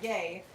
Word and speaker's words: Ye: J Money says, no people do call Kanye ye pronounced yay, but they try to